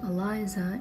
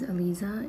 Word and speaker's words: Elisa: from the right now common mistakes on how people pronounce my name is a lot of people call me Eliza and honestly that's not how you pronounce my name because my name is ELISA and it changes the